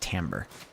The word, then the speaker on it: timbre: The timbre of the fields. I know it looks like timber, but that word is pronounced timbre. T-I-M-B-R is pronounced timbre whenever it's dealing with music.